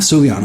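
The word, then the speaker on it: Soohyun: you say his name his first name is su Lee Anne soo-hyun okay I appreciate the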